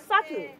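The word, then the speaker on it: subtle: রয়েছে আমার ধার রয়েছে সাবটেল বলবো না ঠিক টি এর আগে বি থাকলে আমরা বলবো সাটেল আমরা ডাউট বলবো না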